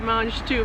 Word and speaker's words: mange tout: have this vegetable called mange tout. Yeah. So, well, we gotta spell it. You gotta spell it because it's pronounced in French.